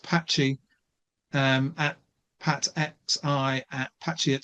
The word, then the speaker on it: PatXI: And also Pat, whose handle is pronounced Patchy, at PatXI at Patchy at 68.